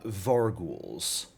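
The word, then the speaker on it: vargouille: Yeah, it's like gargoyle. Got to bring that. That's really weird. It's French.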